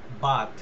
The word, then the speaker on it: Barthes: তারপরে রোলা, ROLAND, রোলা বাত, BARTHES, মানে উচ্চারণ এরা ফ্রেঞ্চ ক্রিটিক।